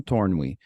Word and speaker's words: Tornwe: life coaching Services today's guest is Mr Don torn and Don I hope I got your last